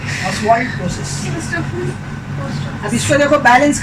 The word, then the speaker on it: Ostwald: ऑस्वाल्ड process. इसको हम लोग क्या बोलते हैं? ऑस्वाल्ड क्या बोलते हैं?